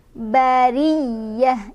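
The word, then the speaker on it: البرية: Ri-nya dia dibaca secara tarqiq karena ro-nya berbaris di bawah atau kasroh. Jadi otomatis kalau barisnya di bawah, maka dia dibacanya tipis, bari. Bariyah, ya-nya tekan ada tasydid, bariyah. Dan tak marbutohnya berubah jadi hak sukun ketika berhenti.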